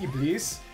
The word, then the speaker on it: Iblis: named known as Iblis, or I guess more correctly pronounced Iblis, because it's actually Arabic and, see, it's easy to die.